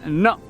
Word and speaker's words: no: Marshal E's wave is spelled Nick oh and pronounced no in English it's spelled n o and pronounced